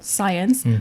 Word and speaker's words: CYENS: My main one is at this research center called CYENS, which you pronounced amazingly correct. Because I was thinking, how do people know? Because it's science as in science and technology, but also CY as in Cyprus.